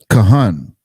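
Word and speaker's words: כהן: Kahan, priest, own, chief ruler, officer, princes.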